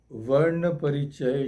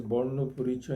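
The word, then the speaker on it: বর্ণপরিচয়: Then his book Varna Parichaya, it is pronounced as Borno Parichaya in Bengali, means Introduction to the Alphabets, is still used as an introductory text to learn the Bengali alphabets.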